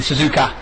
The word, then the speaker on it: Suzuka: Looks like we've got the T90 of, that would be Suzuka, or Suzuka, actually Suzuka, yeah, let's get the pronunciation right.